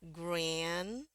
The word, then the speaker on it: granddaughter: Jadi yang ini dibacanya grand, ya, grand. Kenapa di sini D-nya nggak usah dibunyiin? Karena di sini juga udah ada huruf D. Jadi dianggap satu bunyi aja.